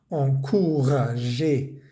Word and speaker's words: encourager: Veamos que todos estos verbos terminan en ER. Grupo 1, no pronunciamos esa R. Encourager, éclater, travailler, jouer. No es jouer, ni travailler, ni éclater.